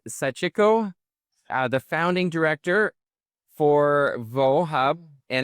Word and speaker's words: Vohub: Well, I have to say, I had the opportunity to go to Vohub. Is that how I pronounce it?